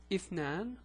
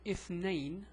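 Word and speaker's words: اثنان: number two is written like this and it's pronounced either if Nan which is here and or if name which is here or you might hear it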